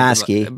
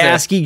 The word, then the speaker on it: ASCII: I don't know how to pronounce it. ASCII.